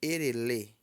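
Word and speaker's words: Èrèlè: Janeiro Xé agora fevereiro fevereiro pronuncia-se erele erele erê tá vendo o gráfico ali embaixo ó e baixo re baixo le alto então erê não é eré porque não tem marcador embaixo é erele er então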